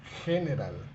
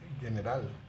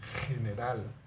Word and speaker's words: general: esto es gato pero esto es general no general general gimnasio goma gusano ga